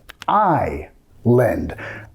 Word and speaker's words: island: Esta palabra parece como Island, pero lo vamos a pronunciar island. Igual como vas a decir ojo, island.